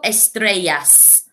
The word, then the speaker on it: estrellas: Cinco estrellas. Okay, so you should be able to hear the s sound at the end of the word, which shows that there is more than one.